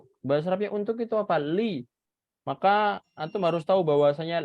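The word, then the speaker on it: لِ: Sedangkan ini bacanya bukan la, bukan lu. Bukan la, bukan lu. Tapi bacanya apa? Li.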